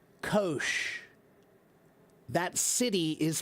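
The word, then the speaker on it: Kocs: And that is pronounced kosh. That city is pronounced kosh.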